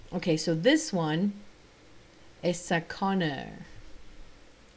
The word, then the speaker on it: Sakana: next one so okay so this one is Sakana Sakana oh okay Sakuni er I think it's how I pronounced it this one is mentioned in passing